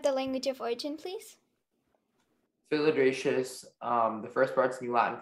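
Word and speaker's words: philydraceous: Filigracious, may I have the definition, please? Filigracious is the only pronunciation, and it means relating to a family of Asiatic and Australian perennial herbs.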